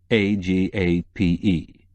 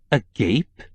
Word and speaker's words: agape: begins with a try a g a p e quillin suggested Miss rup frowned a gape it's a Greek word pronounced Agape oh my she said